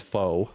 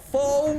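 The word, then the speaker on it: pho: idea how to spell f it's p h o basically it's pronounced F but if you don't know that you might read it as foe you got you you guys like that faux noodle I heard them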